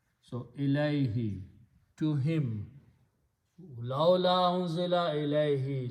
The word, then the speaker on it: ilayhi: So ilahu, when we pronounce them together, it is pronounced as ilay, and who is pronounced as he for the tajweed. So ilayhi, to him.